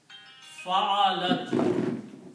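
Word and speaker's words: فَعَلَتْ: In this case, we have a fatha and a fatha and a fatha on each of these letters, and it is sukoon on the last one. Fa'alat.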